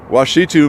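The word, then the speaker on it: Ouachita: Okay, Washitu Mountains. Because O-U-T is pronounced Wa.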